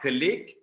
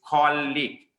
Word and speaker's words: colleague: thank you right therefore it is not colleague okay the pronunciation of this word is called leak okay so the people